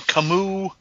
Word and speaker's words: Camus: a thing right now on camus that's really how it's pronounced kamu cognac for a fifth